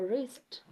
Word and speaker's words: wrist: we have w r where W is or rather sound W is silent for example wrist I don't have a watch on my wrist don't say on my